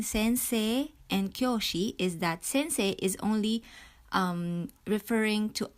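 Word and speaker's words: 先生: and so on sense Sensei notice that we have a long vowel at the end say okay sensei again another long vowel so um the difference between Sensei and kosi is that Sensei is only um referring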